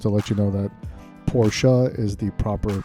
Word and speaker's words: Porsche: but just want to let you know that porsche is the proper pronunciation if we look at the porsche logo